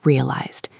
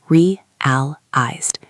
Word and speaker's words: realized: Let's focus on the pronunciation of realized. It is three syllables. Realized. The emphasis is on the first syllable.